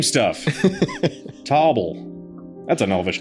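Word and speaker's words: Toble: Tarble or Tobble? Tobble. It's spelled like table, which isn't a thing I was just looking at. It's Table. Table. T O B L E.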